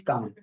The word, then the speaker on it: calm: I never thought somebody could think of English calm.